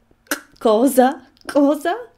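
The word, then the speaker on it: Xhosa: pronunciation because I can't there's a funny click there's a kind of in it that I can't do but it's cozer I can't do it the South Africans can do it it's spelled X H O SA.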